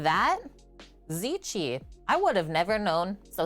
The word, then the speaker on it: ceci: according to your mom who speaks Italian it's pronounced zichi like that zichi I would have never known so thank you